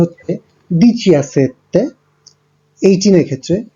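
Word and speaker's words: diciassette: আপনারা দেখতে পাচ্ছেন 17-এর ক্ষেত্রে উচ্চারণটা হচ্ছে দিচিয়াসেত্তে, 18-এর ক্ষেত্রে দিচিঅত্তো এবং 19-এর ক্ষেত্রে দিচিয়ান্নোভে, আর 20-র ক্ষেত্রে এই উচ্চারণটা হয়ে যাবে ভেন্তি।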